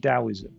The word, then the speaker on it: Taoism: It's pronounced Taoism, but it's spelt with a T.